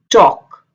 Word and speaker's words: talk: याद रखें जब भी L D F K M से पहले आए, D F K M से पहले आए तो L को बोला नहीं जाता. L is silent in that word.